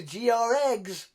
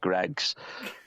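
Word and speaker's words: Greggs: Let's go to GR Eggs. Oh, that was funny. Oh, yeah. GR Eggs. It's not pronounced GR Eggs. It's just Greg's. It's like you don't know somebody in America called Greg.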